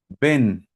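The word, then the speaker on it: בן: Hijo se dice ven. Así como si yo te dijera ven, pero no es con b de bueno, ven.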